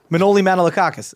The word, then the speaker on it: Manolis Manolakakis: Manolis Manolakakis. I said that right? Say that when you're 5 years old trying to get through grade school. You said it right, which is impressive. Dr. Manolis Manolakakis.